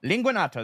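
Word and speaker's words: Linguanotto: Let me spell it for you and you say it. L-I-N-G. U-A-N-N-O-T-T-O. Linguanato? Linguanato. There you go.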